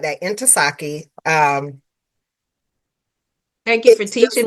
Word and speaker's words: Ntozake: So Inasaki cuz director in because it was like into saki. So I had to learn how to say it like that. Inasaki.